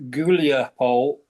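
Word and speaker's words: Гуляйполе: Yeah, when you're talking about Zaporizhia, the most popular at the moment, which is going to be Yancho River, Huliapol, which is pronounced Guliapol.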